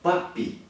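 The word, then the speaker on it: Papus: nós temos um Mago papi se escreve papos mas se pronuncia papi papi viveu entre 1865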